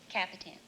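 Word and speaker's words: Kapitan: K-A-P-I-T-A-N. And it is pronounced? Capitan.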